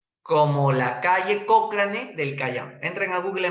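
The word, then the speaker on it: Cochrane: se escribe escribe así se escribe pero se pronuncia como la calle cocrane del cañón entran a Google más y visiten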